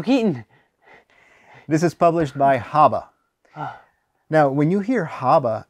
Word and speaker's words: Haba: that's abba this is haba chief you know you're not supposed to pronounce the h in spanish this is a spanish game